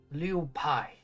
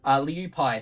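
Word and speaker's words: Lieu'Paix: I come from the city of Liu Pai in the Diplomatica. How do you spell that? Liu Pai, so it's Lieu, and then a apostrophe, Paix, or Liu Pai.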